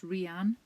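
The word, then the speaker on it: Rhianna: with Y and that's Rihanna with a H yeah people say the H is silent but it isn't because the first letter of my name is RH cuz it's well yeah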